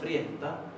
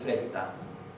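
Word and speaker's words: frétta: Vad att friesta, fíjense que hay otro diptongo, friesta, y la doble T se va a pronunciar como HT. Ad friesta, no se va a decir fresta, ad friesta, Frau Canada.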